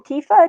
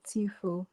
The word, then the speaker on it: Tfue: of situation all right how do you say your name Tifa Tifa uh it's actually tfue tfue I'm so sorry